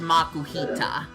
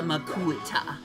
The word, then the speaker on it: Makuhita: Makuhita. But it's pronounced Makuhita. But for the longest time, I called it the Makuhita.